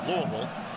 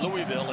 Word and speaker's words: Louisville: home that are saying, "You're saying it wrong. It's Louisville." But I have now lived in Indianapolis for 27 years. So I am prone to say Louisville instead.